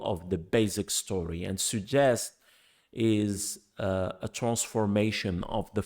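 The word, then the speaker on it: сюжет: Now, suggest is spelled in Russian Syuzhet, and it's pronounced like we pronounce the word in French, suggest.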